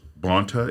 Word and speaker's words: Bonta: And we talk about things like you're doing in your case, Mark, with Baird versus Bonta. Is that the way to pronounce it?